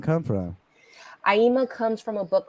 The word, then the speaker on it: Aima: And so I would always be like, Aima, like Dreamer. And then I was like, that's nice. And, the Dreamer. There it is. Where does that name come from? Aima comes from a book called The Kabbalah.